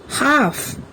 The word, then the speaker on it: half: থাকে শব্দবিলাক হ'ল কাম here L is silent palm half walk talk should good what have you seen in these words here also L remains silent calf chalk fork almond in